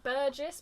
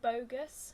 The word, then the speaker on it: Boggess: Well, I thought it was going to be more like Burgess, but not. But I listened to someone say it in an interview because I didn't want to say it wrong, and it's actually like bogus.